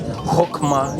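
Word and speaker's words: Chokhmah: I was told by various people that I pronounced it wrong, and it's Hokmah.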